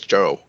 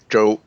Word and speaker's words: Chou: my last name is Joe Joe it's uh um so it's more like a j than a CH so Joe yeah you can see like j-oe would be fine would